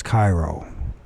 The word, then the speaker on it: Cheiro: And I guess you don't pronounce the H. So it's Cairo. So Chiro or Chiro.